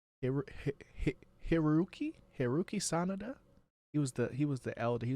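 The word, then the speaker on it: Hiroyuki Sanada: And then you know you had like the old school youngins like how do you say his name, Hiru- Hiruki Sanada.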